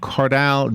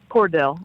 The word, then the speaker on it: Cardale: Former Ohio State Buckeyes quarterback Cardale Jones. Did I say it right? Cordell. Yeah. Cordell. All right.